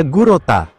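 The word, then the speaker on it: Glotta: dari stomaksa selanjutnya ada glota stomak atau pelafalan Jepangnya gurota Dia adalah anak perempuan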